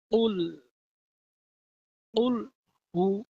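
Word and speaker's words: قُلْ هُوَ: হু একসাথে উল হু কুল হু কুল হু কুলহু বলবেন না কুলহু বললে অশুদ্ধ হবে আপনার শুদ্ধ হবে না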